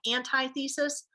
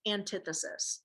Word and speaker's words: antithesis: I know this looks like antithesis, but it's pronounced antithesis, okay?